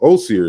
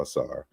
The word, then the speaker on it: Asar: So Osir is really how you would say it, the name in a modern African language. So it's the correct way. But when I adopted Asar, that's how it was being pronounced in the early 2000s. So I'm not mad at it. So I go by both. You can say Osir or Asar.